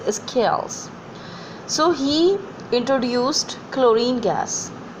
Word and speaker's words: Scheele: or the local way Scheele, but the exact or the actual pronunciation is scales.